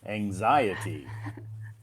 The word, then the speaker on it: anxiety: good listening skills they can hear the stress anxiety it's pretty yeah on the X on the